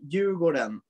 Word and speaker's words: Djurgården: Because if you say Djurgården, that's how you say it properly, but when you speak, you never say it like you go down.